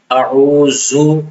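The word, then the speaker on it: أعوذ: دوسری غلطی دال میں کرتے ہیں یا تو دال کو سختی سے پڑھ لیتے ہیں زا کی طرح اعوذو پڑھ لیتے ہیں اور بعض لوگ اعوذو پڑھ لیتے ہیں. یہ دونوں طرح پڑھنا غلط ہے. صحیح تلفظ ہے اعوذ اعوذ اعوذ.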